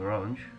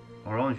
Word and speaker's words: Orange: course William William of orang orang is how it's pronounced because it's actually a French it's a French County it's a county in southern France orang is so it's